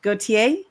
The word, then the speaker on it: Gautier: complimentary strategy session with V, go to, please pronounce it for me, Perfect. dash. Okay, dash Gautier.